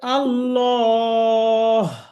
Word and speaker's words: الله: জবর আছে আল্লাহ শব্দের শুরুতে ডানে, এই জন্য এটা লামটা মোটা হবে, ল, ল। এই যে ম লেখা আছে, মোটা হবে। الله হ্যাঁ, أكبر তাহলে আমরা এখানে পড়বো এভাবে আল্লাহ।